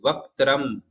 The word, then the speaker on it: वक्त्रम: वक्त्रम में आधा क है, उसका उच्चारण होना चाहिए। वक्त्रम।